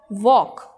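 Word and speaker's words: walk: Okay, वॉक। Okay, वॉक में L silent है।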